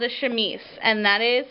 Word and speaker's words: chemise: under underneath um and this is called a chemise and that is how you pronounce it chemise um and so it's kind of like a